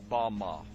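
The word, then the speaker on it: במה: which Satan fell is Strong's Hebrew word 116 pronounced Bama Bama is most commonly used to refer to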